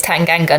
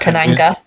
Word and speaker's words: Tanganga: just incredible I think I've managed to teach him it's tanganga not Tanga oh you left to